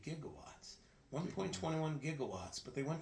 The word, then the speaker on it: gigawatts: You know why they say jigawatts? because they went to a professor who pronounced it wrong. It's supposed to be gigawatts.